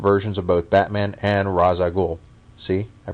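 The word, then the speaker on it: Ra's al Ghul: with two different versions of both Batman and ragul see I pronounced it right the other is a Fantastic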